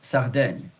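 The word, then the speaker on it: Sardaigne: Sicilia in French it's Sicil and then Sardinia in French is Sarden.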